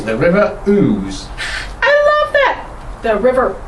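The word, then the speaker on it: Ouse: times it means something or other but it's pronounced ooze so we and it runs through the heart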